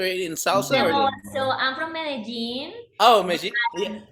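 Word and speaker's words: Medellín: salsa so i'm from medellin oh yeah i used to pronounce it but it's vegeta okay it looks like madeline to me yeah but we have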